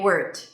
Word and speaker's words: word: You should like You do not want it to sound like a T. So you don't want to say word.